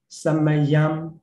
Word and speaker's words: samayam: So it should be closed. Ekam samayam, yeah, also yam.